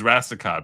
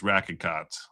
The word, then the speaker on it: Rackicott: I pronounce it as Rassicott, but apparently it's Rackicott, on Monday of sexual assault.